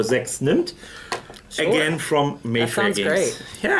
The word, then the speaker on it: Sechs nimmt: That's the correct pronunciation, by the way, for Sechs nimmt.